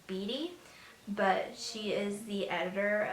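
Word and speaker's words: Beaty: by Caitlyn I believe her last name is pronounced as Biddy but she is the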